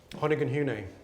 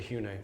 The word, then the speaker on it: Hoyningen-Huene: pronounce his photographer's name Honan hun right shortened often to hun so I call him I mean I will introduce him as Hunan hun but then if I'm lecturing or something I'll then call him hun which is accepted form he was a uh